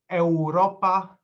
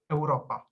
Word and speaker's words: Europa: english w so uh the continent europe in polish is pronounced not europa as the name might you know as a spelling might suggest but europa so with a short and not you know a vowel uh similarly the word